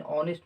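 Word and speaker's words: honest: इन ऑनेस्ट मैन एक ईमानदार व्यक्ति, ऑनेस्ट एच साइलेंट है।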